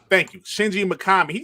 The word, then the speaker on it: Shinji Mikami: can't say his name uh shinshili makat makami shinji makami thank you shinji mikami he said um he wants to make smaller